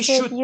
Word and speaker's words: should: the L is mute the L is silent you don't say CH you don't say talk okay maybe we should